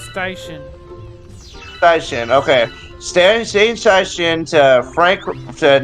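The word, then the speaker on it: Steichen: How do you pronounce his last name? Station.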